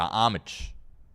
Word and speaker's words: Homage: can go over to Homage. I've been saying homage all week, but I guess the H is silent, so apologies there on that front.